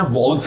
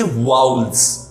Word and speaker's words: vowel: हम ये जानना चाहते हैं कि इंग्लिश में वॉवल्स कितने हैं, राइट। हम इसको वावल नहीं बोलेंगे। क्या नहीं बोलेंगे? वावल। इसको हम बोलेंगे वाउल्स।